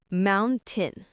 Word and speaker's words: mountain: Next, mountain. You can say mountain. The t is soft.